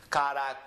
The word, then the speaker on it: caracoles: So this is caracoles. The co gets emphasized.